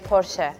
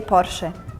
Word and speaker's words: Porsche: hear a lot of porch. Sounds like the Russian silk cuz we don't have the s sound. We only have the s like the sound, not the shh sound. In Korea, we say push.